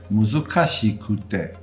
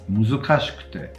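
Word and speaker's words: 難しくて: Muzukashi is fine, but it's not muzukashikute. It's muzukashikute.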